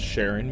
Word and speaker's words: Charon: likely the Greek pronunciation, but I'm going off how astronomers pronounce Charon when talking about the moon of Pluto with the same name.